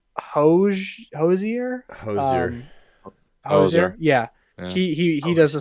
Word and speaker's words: Hozier: how to say his name it's it's Hoge Hozier yeah he he does a song called The